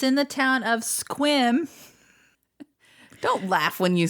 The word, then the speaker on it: Sequim: of squim mhm and we're like oh seum because it's spelled s e qu I am Sequim but it's not how you say it's called squim anyway so lost Mountain